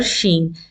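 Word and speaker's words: شين: roof of the mouth but your tongue in the middle should be raised a little bit Sheen this is how we pronounce letter Sheen and it is a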